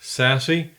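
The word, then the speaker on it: SASE: zero trust Network architecture abbreviated sasc pronounced sassy it brings together networking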